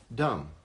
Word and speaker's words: dumb: It's a dumb idea. I'm not so sure that the B in dumb is silent. Do you see what I said there? dumb.